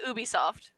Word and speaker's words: Ubisoft: Um, I say Ubisoft. It's like Ubi, like Ubi. Ubi. Like, it's sick, sick.